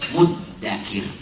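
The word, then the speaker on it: مُدَّكِر: Nah, kalau dulu bacanya mudzakir, jadi mudzakir, jadi muddakir. Saking pengennya Allah memudahkan itu. Bacaannya saja diubah sama Allah jadi muddakir, yang asal katanya mudzakir.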